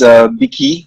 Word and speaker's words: BiKi: So yeah, the pronunciation is BiKi Exchange, right?